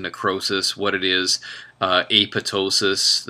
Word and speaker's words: apoptosis: what it is uh apotosis it's not pronounced apoptosis like you would want to say it is the second p is silent um so AP says